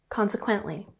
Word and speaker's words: consequently: Next, we have consequently. Consequently has emphasis on the first syllable, and it means that one thing is the result of another.